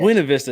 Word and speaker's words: Buena Vista: Buena Vista. That's how you say it. I was thinking Buena. I say Buenos Tardes. I'm terrible. Is it Buena Vista or is it Lake Buena Vista? It's not Lake. It's Buena Vista, but Buena Vista.